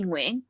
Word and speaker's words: Nguyen: Our last name is Nguyen. Mm. So some will say Nguyen, some will say Nguyen, but it's really Nguyen.